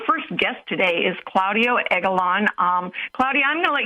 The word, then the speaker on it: Egalon: You pronounced my name correctly, Egalon, right?